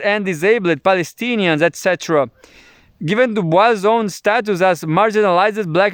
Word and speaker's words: Du Bois: Du Bois himself insisted on English, not French pronunciation.